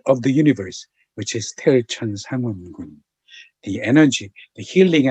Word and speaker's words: Taeeulju: I'm going to say each word, pronounce it properly. Hum chi, Taeeulju Sangwon-gun. I'm going to say it one more time. Hum chi, Taeeulju Sangwon-gun.